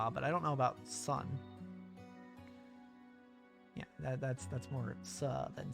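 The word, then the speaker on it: ス: similar he says su pronounce it as su or like in the word soon or well sue the name or to sue someone for their money or super or suplex or soup yeah sue have a lot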